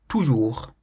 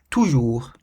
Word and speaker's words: toujours: Toujours. Toujours. It means always. Toujours. And you'll notice that it ends in the letter S, but we don't pronounce the letter S because it's not in the word careful.